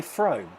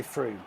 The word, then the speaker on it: Frome: Oh, did I say Frome? I meant to say Froome. Did I say Frome? Yeah, well, they should spell it properly then, shouldn't they? They spell it like Frome, don't they?